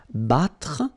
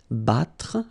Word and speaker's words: battre: Okay, then battre, battre. Okay, even if you've got deux T here, two letters, well, basically you've got only the sound of one, okay?